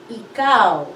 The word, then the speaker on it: ikaw: you in filipino is icao how do you spell ikaw that's a hard vowel sound e and then the second syllable is cow it's a diphthong so